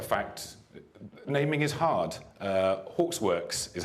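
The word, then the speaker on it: Hawksworx: deck of a fact naming is hard uh Hawks works is how that's pronounced idiot 25 years ago I thought that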